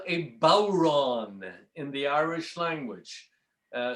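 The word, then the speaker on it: bodhrán: drum it's called a bauron in the irish language uh spelled b-o-d-h-r-a-n but it's pronounced like uh you know bow like you take a bow and ron and it's an instrument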